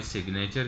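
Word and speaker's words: signature: एन का combination आएगा, सिवाय सिग्नेचर के, वहाँ पर पढ़ा जा रहा है दोनों तरफ।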